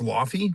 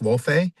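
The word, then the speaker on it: Laufey: I thought it was Lafy, but it's called pronounced Lof.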